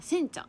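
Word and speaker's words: 煎茶: 全茶って読むのかな、煎茶、煎茶、煎茶いちご大福、これ美味しそう。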